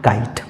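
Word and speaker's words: kite: भी आया है और इसमें भी ई का उच्चारण नहीं होगा अर्थात इसका सही उच्चारण हो जाएगा काइट उसी तरह से डब्लू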